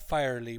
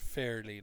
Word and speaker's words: fairly: Fair, not firely, but fairly, like fair hair.